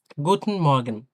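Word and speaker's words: Guten Morgen: তবে কিছুটা সম্ভব সেটা চেষ্টা আমরা করেছি গুটন গুটন মর্গেন গুটন মর্গন্যা মর্গন সুপ্রভাত যেটা বলি আমরা গুটন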